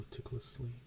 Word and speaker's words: meticulously: meticulously meticulous meticulously meticulously so it's like the second syllable and then the last syllable are accented I know that's a